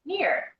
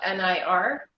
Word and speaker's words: Nir: it's felt like sir but it's pronounced near like because it's it's called nir but it's actually in here